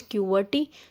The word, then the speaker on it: QWERTY: So option C, QWERTY, it is known as, pronounced as QWERTY.